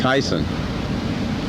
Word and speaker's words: Theisen: Theisen to play the the Tyson the H is silent Oh I thought I